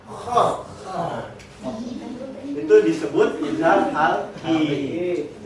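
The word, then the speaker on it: خ: Sama kho. Ibarat kita mau ngeluarin dahak. Kho.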